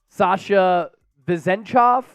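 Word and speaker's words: Sasha Vezenkov: Coop how do you say Sasha's name here Sasha vezenchov um a couple of international players signing today and then while I have you Vasily mitchich three years 23.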